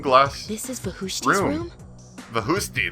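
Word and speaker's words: Vakhushti: Vahusti, that's how you say it.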